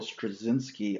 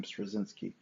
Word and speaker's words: Straczynski: Michael Straczynski, I believe that's how you pronounce his last name, Straczynski, was a huge influence on me.